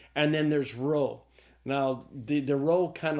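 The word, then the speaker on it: rho: So the row is the R sound like the R in the English word rod.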